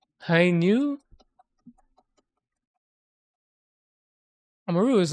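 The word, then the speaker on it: ν: Do they call it new or V? V is a Greek symbol, but it's pronounced new.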